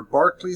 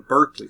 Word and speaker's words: Berkeley: Their Barkley School of Divinity, they call it the Berkeley School of Divinity, is named after him, so they don't keep the Irish pronunciation of his name, which I like, which I prefer.